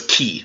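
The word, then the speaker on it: χ: of how it's transliterated it's transliterated CH it does not sound like a normal CH it's basically a hard C sound cut so it's key hard C sound so it's like the CH and lock like Loch Ness monster so you have to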